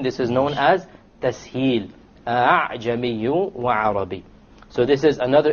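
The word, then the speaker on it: أعجمي: You don't pronounce it a full hamza, and you don't pronounce it as an alif, full alif. It is in between.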